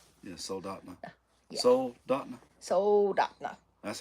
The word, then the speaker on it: Soldotna: 10 or 12 miles south of Soldotna. Yeah. Soldotna. Yeah. Soldotna.